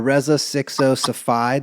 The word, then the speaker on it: Reza Sixo Safai: off with a little intro for Rea uh re 60 Safi did I pronounce that correctly my king you nailed it